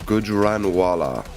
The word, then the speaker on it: Gujranwala: Spag's been teaching me a lot of pronunciations. I hope I got that one right. How did you say it? I'm not going to say it again, just in case I go wrong. Gujranwala City. Yeah. Gujranwala.